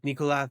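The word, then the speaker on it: Nicolás: Like they practically swallow the S. Like Nicolath Maduro. Nicolath. It was almost a Castellian S.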